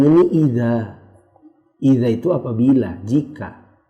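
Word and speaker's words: إذ: Karena si penerjemah membacanya ini idza. Idza itu apabila, jika. Padahal di sini tidak ada alifnya. Di sini id, bukan idza.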